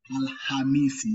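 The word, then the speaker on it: Alhamisi: The letter KH now, we tend to give less stress in the letter K. But give more stress in the letter H in the pronunciation. Then we'll be saying Al-Hamisi.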